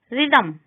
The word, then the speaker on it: rhythm: H is not pronounced when it comes after C, G and R. Chorus, ghastly, rhythm.